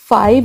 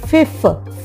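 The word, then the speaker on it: fif: हो जाते हैं क्योंकि हम फाइव नहीं बोलते ओके बेटा हम बोलते हैं फिफ फिफ ध्यान से सुनिए फाइव नहीं बोला फिफ बोला है एफ आर ए यह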